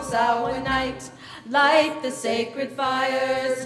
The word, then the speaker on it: Samhain: There's a bunch of different pronunciations of this word, and none of them have an M sound in them, and yet the word is spelled with an M. So everybody say it with me. Samhain. Samhain. Good. It is the Celtic pronunciation of the word, and it refers to